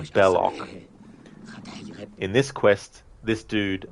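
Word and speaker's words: Belloq: Jones movie Indy's friend Salah mispronounces the name of the villain and calls him balosh but the villain's name is actually bellock in this Quest this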